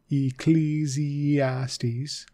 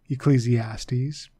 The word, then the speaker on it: Ecclesiastes: silent Psalms proverbs Ecclesiastes the e is long there and so the eye is also a sound right Ecclesiastes Ecclesiastes and Song of Songs